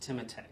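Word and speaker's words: Timothée: that i've named timotey chalamet not timothy timothy pronounced timothy there you go i i thought we were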